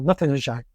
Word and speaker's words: Northamptonshire: nombre de pueblo inglés, que los ingleses pronuncian comiéndose la mitad de las vocales y el 75% de las consonantes, de tal manera que ellos dirían algo como Northamptonshire.